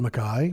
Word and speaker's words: Mackay: guest my name is Mackay or McKay if you want to pronounce it the American way I have about 25